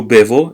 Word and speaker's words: bevo: So io bevo, it's not io bo, so io, let me see how we write the B.